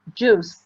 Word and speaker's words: juice: This is juice. Remember juice like because the I is silent.